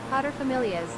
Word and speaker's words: paterfamilias: Paterfamilias. I was saying it right, but that doesn't help.